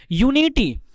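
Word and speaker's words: unity: यूनिटी, letter भले vowel का है लेकिन इसका प्रोनाउंसिएशन देखिए, यूनिटी, क्या यूनिटी में है, यूनिटी में नहीं है, यूनिटी में वॉवेल का साउंड नहीं है, कॉन्सोनेंट का साउंड है, तो इसमें क्या हो गया, ए यूनिटी।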